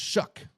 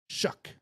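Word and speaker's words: Shough: But it's but it's pronounced Shuck. Like S H U K. Shuck.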